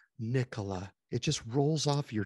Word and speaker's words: Nikola: In other words, Nikola, if you say it correctly, Nikola, it just rolls off your tongue, and it's just a beautiful thing.